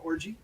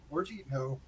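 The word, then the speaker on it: Orji: catherine lankford charlie plummer yvonne orgy orgy but if you mispronounce it it comes out wrong haley law piper and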